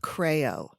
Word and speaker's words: KraeO: she has a hand dyed yarn company called crayo it's spelled capital K little r AE capital O